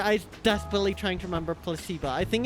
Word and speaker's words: placebo: today repeat after me placeo the stress is on the middle syllable placeo very good you're figing interest